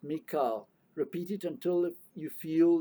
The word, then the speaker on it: Michael: the British Realms of Malu his name is pronounced Mika repeat it until you feel that you have